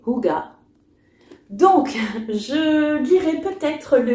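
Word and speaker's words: hygge: livre du H du hijge je sais jamais comment on dit ah ouais non en fait c'est noté ici prononcé Hugga donc je lirai peut-être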